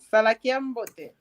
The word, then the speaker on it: Salakiambote: Salakiambote. Cuidado o que a gente diz. Estás a ver aqui? Tens vogal longa. Salakiambote.